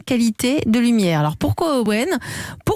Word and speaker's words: Owen: Owen, ça s'écrit O-W-E-N.